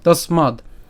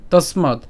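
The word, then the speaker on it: তস্মাদ্: এরপর তসমাদ আমরা এখানে দ হসন্ত পর্যন্ত উচ্চারণ করলাম তসমাদ ঠিক আছে তসমাদ তাহলে এখানে তসমাদ পর্যন্ত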